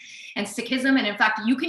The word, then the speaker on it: Sikhism: seek and sikhism this is not the correct pronunciation in the sick community we say sick and sickism and in fact you can even correct your